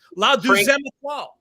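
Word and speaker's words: La Deuxième Étoile: I don't know how to pronounce the 2 La Demois Etoile. This was one of our big winners on opening day, Chad. Yeah, that's right. That's right. Frank's call 8,000 times. La Deuxième Etoile.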